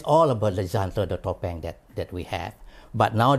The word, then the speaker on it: topeng: So the word topengs come from the word tup, T-U-P, tup. Tup, they add suffix ang, becoming tupeng. Because of the, you know, change of pronunciation, they becoming topeng.